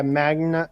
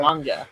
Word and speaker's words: manga: Yeah, Magna. Mag Manga and then gaming and then rant against Eric. It's literally not on my screen. Do not ever pronounce it that way again.